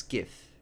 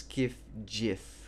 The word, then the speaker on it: GIF: Who would pronounce GIF with a J sound? It's a G sound, like a gorilla.